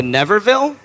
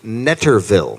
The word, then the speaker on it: Netterville: The Neverville? The Netterville. Netterville. Okay, nice.